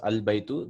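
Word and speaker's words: الْبَيْتُ: Then this is Hamdatul Was, Al Baytu. The house is pronounced as Al Baytu.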